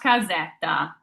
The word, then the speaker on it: casetta: So this is pronounced casetta. So I'd spell this phonetically. Casetta. So we have our C followed by an A, which tells us it's a hard K sound.